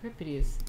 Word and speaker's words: Euripides: Euripides.